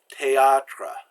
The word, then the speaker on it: théâtre: And even what's in the middle of the word, so like théâtre, you don't try to make a TH sound, which doesn't exist. It's like the H doesn't exist there.